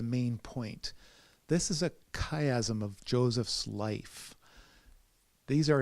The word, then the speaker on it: chiasm: plenty and seven famine we've talked about chiasm sometimes pronounced ki Azam's and these are patterns